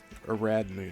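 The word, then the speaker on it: Ariadne: I think it's Aradne. Aradney is the way you pronounce that here.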